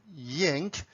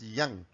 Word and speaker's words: yang: people produce it at yank it's up to you but in the original chinese pronunciation it's pronounced as yang and each section we